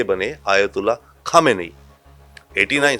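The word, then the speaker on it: Khamenei: यस, वो खोमेनी थे, ये खामेनी है। अच्छा, ये बड़ा इंटरेस्टिंग फैक्ट है, क्योंकि लोग अपने हिसाब से इनका उच्चारण करते हैं, कुछ खुमैनी कहते हैं, हाँ, कुछ खामनेई कहते हैं।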